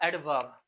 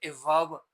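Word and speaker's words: adverb: लेकिन वी और ए के में हो तो हम इसको साइलेंट नहीं कर सकते। ठीक है? ये क्या है? एडवर्ब है।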